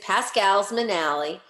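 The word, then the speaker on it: Pascal's Manale: a matter of fact pronouncing like the family did it's like it's uh well it's it's pascal's manali and it's um it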